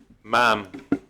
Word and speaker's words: ma'am: Thank you, ma'am. That rhymes with ham.